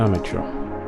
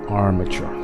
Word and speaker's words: armature: do now is work on the amateur Armature Armature that's how it's pronounced Armature R and